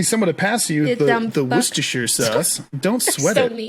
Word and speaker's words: Worcestershire: to pass you the worcestershire sauce don't sweat it pronunciations of this condiment vary based on where you're from but most people skip the first r all together those so